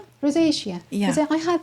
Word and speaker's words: rosacea: Um, I once had something, um, I actually practiced pronouncing them, but if you could please help me. This. Rosacea? Rosacea.